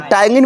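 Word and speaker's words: ptyalin: टायगिन में देखो P word silent होता है, अंग्रेजी में साइलेंट है पी, याद रखना।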